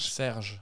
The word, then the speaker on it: Serge: Serge.